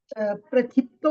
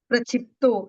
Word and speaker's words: प्रक्षिप्तो: प्रक्षितो माने मतलब ये हो गया क्या? क्या नाम है इसका? व्याप्त किसका? प्रक्षिप्तो।